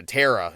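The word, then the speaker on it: Terra: tarot card to them it's spelled t-e-r-r-a card right a tara is what it's going to be and it's just setting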